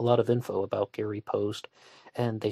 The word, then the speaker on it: Post: Some people are pronouncing it Posty. I've also heard it pronounced Post, so I'll just keep going with that.